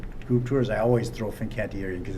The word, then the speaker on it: Fincantieri: friends from Genoa Italy Finn Qatari fincantieri Fincantieri through an extra syllable in there thank you and I'm